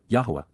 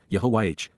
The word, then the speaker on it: Yahowah: Yahwa, God's personal and proper name, pronounced Yahwh based upon haya to exist.